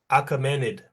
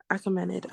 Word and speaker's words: Achaemenid: How do you pronounce the A word? Achaemenid. Achaemenid.